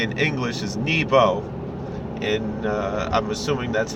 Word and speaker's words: Nebo: It's not a long E, for sure not. It'll probably really technically be more like Nebo, but the way we pronounce it is Nebo, or Nevoi, if you want to be really Ashkenazic about it.